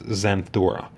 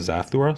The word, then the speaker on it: Zathura: she was referring to the film as Xanthura instead of Zathura, so she was mispronouncing it.